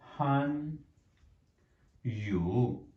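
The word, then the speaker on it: 汉语: सो Chinese language जो word है, अगर हम इसको देखें चाइनीज़ में, सो दैट इज़ अ हन यू हन यू कहते हैं हम चाइनीज लैंग्वेज को। इट्स a Chinese pronunciation.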